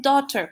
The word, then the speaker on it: daughter: ¿Por qué escuchamos daughter? Pues porque la GH es muda, la AU suena O y la E es muda. Daughter-in-law. Entonces tenemos solamente dos sílabas.